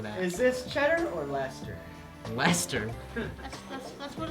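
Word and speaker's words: Red Leicester: is this cheddar or Lester Lester that's that's what it's pronounced yeah so this crazy word here is pronounced red Lester wait let me see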